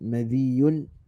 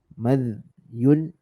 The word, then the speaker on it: مذي: Sama ada kita sukunkan huruf zal, mim tu kita baca baris atas madhyun, ataupun kita baca madhiyun, ataupun kita baca madhi. Dua-dua tu, ketiga-tiga tu cara bacaannya, pun yang pertama tu lebih tepatlah madhyun, madhi.